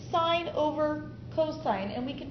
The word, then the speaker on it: sine: and hypotenuse well that's sine so I say the sine of 50 it's pronounced sine not sin is equal to the